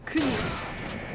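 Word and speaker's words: König: It's Kunish, is what I've been told. Kunish? Yeah, not Kunig.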